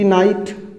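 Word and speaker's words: knight: एक आप जानते हैं बड़ा KNIGST नाइट, यहाँ पर देखिए के, यहाँ पर आप देख रहे हैं के से शुरुआत हो रही है और इसको पढ़ा क्या जा रहा है, नाइट।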